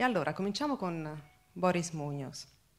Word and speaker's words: Muñoz: E allora cominciamo con Boris Muñoz. Muñoz, l'accento sulla O, abbiamo imparato.